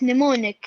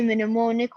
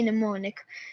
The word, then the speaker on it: mnemonic: So it's mnemonic. Here we realize that the M is silent. The M in the beginning is silent. So we don't say mnemonic, we say mnemonic. And it's spelled as N-I-M-O-N-I-K, mnemonic.